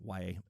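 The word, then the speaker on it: Yahya: There was a Iowa football player whose name was spelled exactly the same way, and that's how he chose to pronounce his name as Ya.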